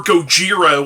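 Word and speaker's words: Gojira: the original Godzilla or go jir which is the Japanese pronunciation of Godzilla as well as several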